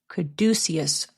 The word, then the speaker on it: Caduceus: Pronunciation, please. Caduceus? What? Caduceus.